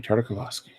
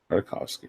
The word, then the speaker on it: Tartakovsky: George Lucas, Dave Filoni, and Jenny Tartakovsky. Tartakovsky, there we go. You're putting too many syllables in there.